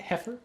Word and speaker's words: Heifer: Heifer International? Is that how you say it? Heifer?